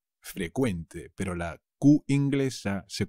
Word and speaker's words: frecuente: frecuente en is one pero cuidado se dice frecuente frecuente pero la cv inglesa se convierte en una ce que se pronuncia como una k ave frecuente los impuestos